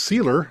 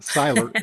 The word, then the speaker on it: Seiler: Rose and it says sealer. Am I saying that second name or correct? Okay. So in German remember oh it's sailor ei is pronounced I silent. Yeah. Siler.